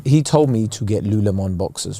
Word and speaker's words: Lululemon: yeah good underwear he told me to get Lou Lemon boxes right now the other day Saturday I thought were you calling them whatever how do you say it Lululemon Lululemon you just doubled the price over here yeah